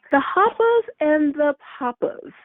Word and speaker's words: The Hoppers and the Poppers: No, you're not saying it right. It's okay, say it right. The Hoppers and the Poppers. That's how it's supposed to be.